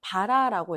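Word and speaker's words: ברה: 히브리어 원어로 살펴보면 먹다, 먹이다라는 뜻은 바라라고 읽어요. 바라.이 이 바라가 언약이라는 뜻을 가진 베리트의 어근이 됩니다.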